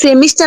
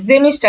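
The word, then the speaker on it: Semester: বছরকে কি বলে আপু এখানে কি সেমিস্টার নাকি জেমিস্টার হবে এটা যখন আপনি জার্মান উচ্চারণ করবেন তখন জেমিস্টার হবে জেমিস্টার এই যে এ আছে না ভাওয়েল আছে জাস্ট সেমিস্টার আর এই যে কোয়ার্টার আর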